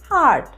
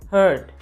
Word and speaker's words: heart: the next word is it's pronounced as heart not hurt you say heart i thank you from